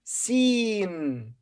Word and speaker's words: س: study a new letter it's called scene and its sound is s look it's written like